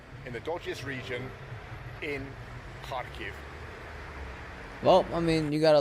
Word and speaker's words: Kharkiv: The place is called Kharkiv, not Kataste. But I guess that's how you pronounce it in Russian.